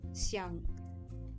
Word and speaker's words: Xiang: I think it's Xiang. Okay, Xiang. So it's Xiang.